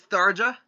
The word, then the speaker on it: Tharja: Because you know how in Norse J's are usually pronounced as Y? Only after a hard consonant, not after a soft consonant.